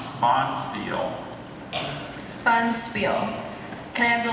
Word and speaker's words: bonspiel: Do you have any alternate pronunciations? I don't, just bonspiel. Bonspiel. B O N S P I E L, bonspiel.